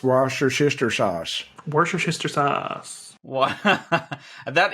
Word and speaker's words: Worcestershire: And it's pronounced Worcestershire sauce.